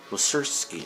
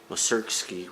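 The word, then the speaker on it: Mussorgsky: with the berlin philharmonic uh welcerski okay i i said it wrong moserkski wrote pictures at an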